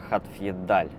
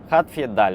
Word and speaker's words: Hadfjeldal: Как он правильно произносится? Вот сейчас мы спросим у Гугла, как же произносится этот город. Хатфьедаль. Хатфьедаль. Вот так он произносится, да.